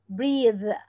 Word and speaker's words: breathe: بريس هنا معناها النفس، انما دي انا بنطقها كانها ذه. breathe، press او حرف واحد غير نطق ومعنى الكلمه.